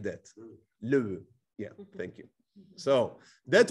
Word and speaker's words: Loew: In German, it would be, I cannot pronounce it, Loew, something like that. Loew, yeah, thank you.